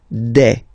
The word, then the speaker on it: des: Okay, and then the plural form, des. All right, here s you pronounce it like e.